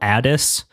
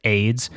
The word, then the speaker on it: Ades: By Carol Addis, it's spelled ades. I get why she wouldn't want it to be said as AIDS, but uh I have seen her live.